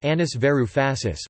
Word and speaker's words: Yanis Varoufakis: Giannis Varoufakis, pronounced Anis Varoufasis, born 24 March 1961, is a Greek economist,